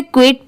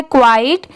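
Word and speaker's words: quiet: बहुत सारे लोग इसे क्विट पढ़ते हैं बट वो रॉन्ग होता है। इसकी सही प्रोनंसिएशन है क्वाइट। क्यू यू आई ई टी।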